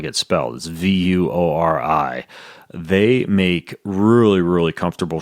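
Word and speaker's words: Vuori: addition to creating a company that is not pronounce like it spells V you Ori they make really really comfortable shorts that you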